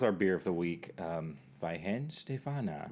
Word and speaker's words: Weihenstephaner: Weihenstephaner. Weihenstephaner.